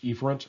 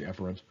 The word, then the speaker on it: efferent: The opposite is efferent, sometimes pronounced efferent. I'll say efferent.